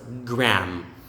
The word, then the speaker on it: Graham: to be pronounced as gram gram silent h silent a graham or graham graham